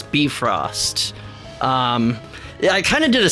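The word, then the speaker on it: Bifröst: Old Norse, they always, the emphasis is always on the first syllable. Like, it's never Emir, it's Emir. It's not Bifrost, it's Bifrost.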